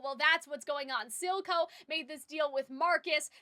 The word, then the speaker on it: Silco: I see now it's Silco, not, silicone, as in, like, you know, or Silaco, as in silicone.